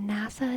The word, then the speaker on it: NASA: Jose, NASA is pronounced like that because it's an abbreviation. The word is national, right? So it's NASA, right? At least in my head, that's why it makes that sound.